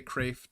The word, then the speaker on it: Kreeft: I forget how to pronounce his last Craft. name. They say Craft. Kreeft, which is absolutely Amazing.